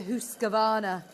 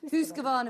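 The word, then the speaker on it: Husqvarna: more about this as well with um the hus gavana am I pronouncing this right it is yeah it's it's imagine it is an double O husana husana hus gavana machine in a bit because um this was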